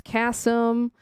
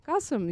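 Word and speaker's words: Qasim: say his name but it was always Cassum or Kasim and I'm like no his name is is is Kasum Kasum you know.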